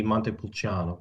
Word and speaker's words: Montepulciano: Yep, Vino Nobile di Montepulciano.